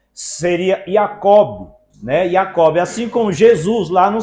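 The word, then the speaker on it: יעקב: Até porque no hebraico eh eh os judeus eles não pronunciam o nome Jacó. O a letra J lá não tem este som. Seria Jacob, né? Yacobe, assim como Jesus, lá não se fala Jesus, é Yesua, entendeu?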